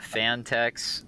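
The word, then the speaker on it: Phanteks: can send it directly to you or anything pantech what uh fan text but it's spelled p h a n t e k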